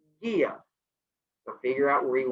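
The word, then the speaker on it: Gaea: Our next one, Gaia, G-A-E-A, pronounced Gaia.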